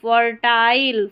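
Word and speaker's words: fertile: फर पढ़ना है और टी आई एल ई को टिल नहीं पढ़ना है टाइल फर्टाइल फर्टाइल फर्टाइल मतलब उपजाऊ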